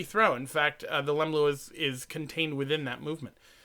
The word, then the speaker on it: leumluath: The word Leumluath, pronounced Leumluath, comes from the Gaelic meaning fast, lua, and jump, lem.